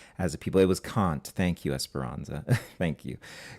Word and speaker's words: Kant: So, I didn't want to get the name wrong there, but it it is Kant, yeah.